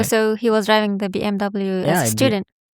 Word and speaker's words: BMW: Oh, so he was driving the BMW student. Did I say BM or BM? BMW. But that's the original pronunciation. Yeah, the German one. BMW. BMV.